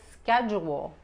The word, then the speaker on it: schedule: Project schedule. Schedule. Aquí esta D-U se pronuncia como la J de inglés. Juntamos los dientes. Schedule. Los dientes de al lado, no de enfrente.